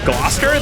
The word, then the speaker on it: Gloucester: go baby is Gloucester it's Gloucester that's how you pronounce it is Gloucester what the